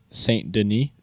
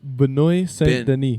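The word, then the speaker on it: Benoît Saint-Denis: pronounced Saint Denis. St. Denis, okay, well, I don't. He's I actually French. don't know. he is for St. Denis. It's Benoit Saint Denis. That's named Benoit. I thought it was Benoit Saint Maybe. Denis. Probably. I don't know. Benoit French. Saint Denis. Saint Denis. That sounds French when I say it like that.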